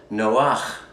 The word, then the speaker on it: Noah: Chapter 60 begins with, it's titled A Fragment of the Book of Noah, properly pronounced Noach.